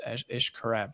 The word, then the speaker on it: Xcaret: It's pronounced Xcaret, but it's spelled X and then caret, CARET, and it's like, I don't know, jungle Disney World borderline.